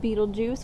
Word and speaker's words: Betelgeuse: And some of them are recognizable, probably ones you've already heard before, like Betelgeuse, which is not spelled like the Tim Burton movie, but sigl really cool.